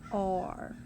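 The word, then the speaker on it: are: together it says or same thing with the word r and notice there's no dot by e there's no sound at the end the e makes no sound so he doesn't even get a dot for a sound so that word is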